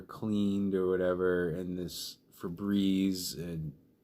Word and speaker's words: Febreze: sprays okay I mean for breeze I mean Febreze remember Febreze rhymes with disease because that's what they'll